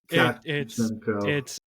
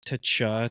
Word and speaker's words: Tkachenko: Just imagine you're saying Matthew Tkachuk, and it's Tachenko. Tkachenko. Oh, you pronounce the K.